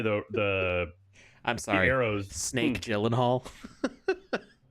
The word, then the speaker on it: Gyllenhaal: sorry snake Gyllenhaal hahaha or is it snake healing Hall it's actually pronounced Jill and Holly I'm just kidding it's not it's not it's something like healing hall or at least that's what he said on Conan but we also the